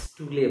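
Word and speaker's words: stool: দেখ আমরা বলি টুলে বস। কিন্তু টুলে বস হয় না। স্টুলে বস।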